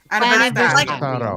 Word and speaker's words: aniversário: Aniversário. It's like anniversary, but aniversário.